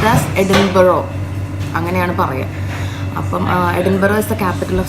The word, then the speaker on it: Edinburgh: We are going to Edinburgh today I was pronouncing it as "Edinberg" The spelling is E-D-I-N-B-U-R-G-H After coming here and when listened to people, I realized that its pronounced as ɛdɪnbərə Edinburgh is the capital of Scotland We are